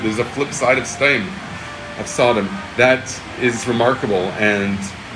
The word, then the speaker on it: Sodom: I want to say Sodom, that's the proper way to say it. There's no reason to say it wrong.